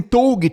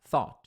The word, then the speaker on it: thought: Quando você vê essa palavra, não lê assim, tog, né? Tenta pensar thought, é tipo tem um th no começo.